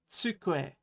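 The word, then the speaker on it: つくえ: It's tsukue. Great. Tsukue is a desk. Remember to make that TS sound when you're making the tsu, so tsukue, right?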